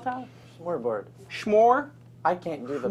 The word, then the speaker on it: Smørrebrød: Smørrebrød. Smør? I can't do the vowels. Smørrebrød. Like how do you pronounce it?